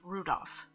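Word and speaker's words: Rudolf: whatever this is anyway this guy's name is pronounced Rudolph haha he must hate grandfather for giving him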